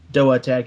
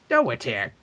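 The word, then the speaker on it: DOATEC: Doa Tech is how they pronounce it. Doa Tech.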